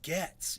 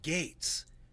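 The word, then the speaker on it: Gaetz: say the word gate why do you say gets you're a my God hey man turn the TV on and listen to someone else pronounce his name it's Matt Gates you hermit Air Force briefing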